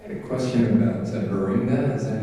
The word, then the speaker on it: Beringia: (audience member) I have a question about ber-ringe-ga, is that how you pronounce it, ber-ring-ia (Erlandson) Beringia (audience member) Beringia It covers a wider swath than I was aware of for a long time.